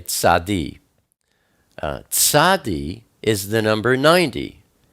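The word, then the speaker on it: צדי: But this one is tzadi, or you could say tzad. Most people say tzadi.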